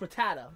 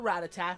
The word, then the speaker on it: Rattata: running into Pidgey and ratat I know it's pronounced Rattata technically I don't care I grew up with the original show and they call it ratat so screw you I'm call ratat and it's